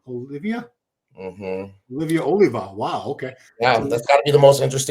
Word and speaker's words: Oliva: It's they they say Sergio Olivia or if you're dumbass Tony Dhy and you announce me at my first Arnold and you say Sergio Oliver.